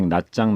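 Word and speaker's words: Nha Trang: 함께 뱉어 남녀 애 나짱 나트랑 편입니다 베트남어 발음은 나 짱인데 우리나라에서는 모 항공사에서 영어식으로 발음한 하여 나트랑 으로 광고의 소개되어 그대로 불려지고 있습니다 결국 낮잠 과 나트랑 은 같은 곳입니다 미치는 다낭 과오 쯤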